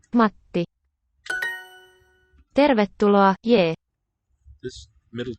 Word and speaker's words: Matti: Matti. There you hear that little bit of silence in the middle of the word. Matti. That means we have a double consonant. Matti.